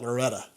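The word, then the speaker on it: Loretto: Well, in Kentucky you call that Loretta, but yes, Lorettto is how you spell it.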